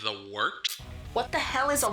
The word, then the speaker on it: Wort: Not warts, not forts, not short.